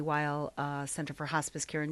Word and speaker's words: Weil: Weil Center. Did I say it pronounced yes.